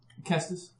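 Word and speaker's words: cestus: Kestis. It's a Kestis. C-E-S-T-U-S. And now, it is action. Oh, Latin. You pronounce C's hard.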